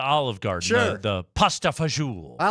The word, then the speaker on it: fagioli: It's pronounced fagioli, son.